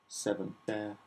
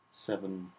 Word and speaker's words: Se7en: So the first thing I picked was the film Se7en. Se7en. It's spelt weird, the title of it.